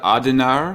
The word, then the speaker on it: Adenauer: not Adenauer did I say it right Conrad adinar how do I say the pr the chancellor after World War II perfect oh I did okay he's no Adenauer um you see macron is emerging he wants